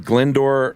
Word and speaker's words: Glyndwr: Um his name is uh Glyndwr Michael." Yeah, that is not how that's spelled, either.